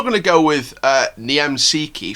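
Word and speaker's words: Niemczycki: to go with uh niem sikhi from from krakovia that's how it's pronounced um because that's like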